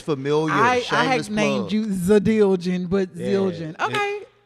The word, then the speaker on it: Zildjian: No, it's how it's spelled. Zildjian.